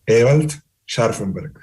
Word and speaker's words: Ewald Scharfenberg: Claro, creo que soy venezolano, soy hijo de alemán y eso se pronuncia Ewald Scharfenberg.